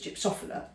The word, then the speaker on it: gypsophila: though I know they're pronounced over here as gypsophila, but it's a Greek word, so I say gypsophilia, or angel's breath, I think, baby's breath, whatever you want to call it.